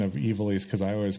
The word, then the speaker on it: Ivalice: where you had to correct me on the pronunciation of evilise because I always called I always pronounced it Ivalis.